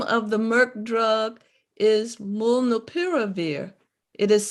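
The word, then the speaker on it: molnupiravir: question the name of the merc drug is mullinopiravir it is spelled m-o-l-n-u-p-i-r-a-v-i-r they can't see the chat okay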